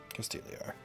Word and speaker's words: Castigliar: So it is It's Castigliar. Castigliar. Okay. Yep. So Silent G. Yeah. Castigliar.